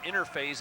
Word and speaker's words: Innerphase: Interphase is INNERPHASE. It's just pronounced interphase.